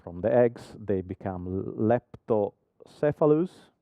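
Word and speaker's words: leptocephalus: the first row from the eggs they become lepto cephalus correct correct pronunciation very good thank you and then they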